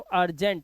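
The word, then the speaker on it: urgent: ऐसे ही यू के बाद आर और जी दोनों कॉन्सोनेंट है तो अर्जेंट, यू का उच्चारण अ।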